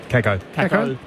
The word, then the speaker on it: Kako: And, am I pronouncing that right? Kako? Kako.